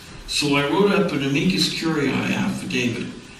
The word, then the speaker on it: amicus curiae: So I wrote up an amicus curiae affidavit. Amicus curiae simply means friend of the court. Okay? How do you spell that?